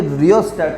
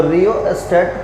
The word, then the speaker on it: rheostat: यहाँ जो ये रियोस्टेट है, इसका जो स्पेलिंग है RHEOSTAT, रियोस्टेट आप लोग ने अपने फिजिक्स के लैब में देखा भी होगा प्रैक्टिकल करते समय, है ना।